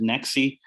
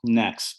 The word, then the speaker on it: NEXE: a a great debate a lot of people pronounce it nexi uh but it was uh when we first did the rebrand it was supposed to be next but uh no i'm next is the way we see it but uh